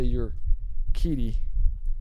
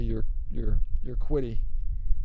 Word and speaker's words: Urquidy: they could bring up Jose Urquidy. That's how you say that name. I used to say Urquidy, but it's Urquidy, I think, is how they're pronouncing that.